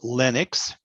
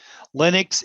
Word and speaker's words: Linux: what is linux and it's a short i it's not linux it comes from a person whose name was linus but this is linux so linux is actually